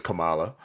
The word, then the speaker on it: Kamala: Kamala Khan had to, or I always like pronounce her name like Kamala Harris, yep. So Kamala Khan. she actually is Kamala.